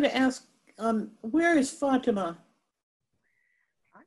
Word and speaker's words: Fatima: and went to the fatima that's how you pronounce it this is what i